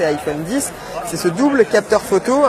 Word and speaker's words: iPhone X: Autre nouveauté de cet iPhone X, à prononcer iPhone 10, c'est ce double capteur photo.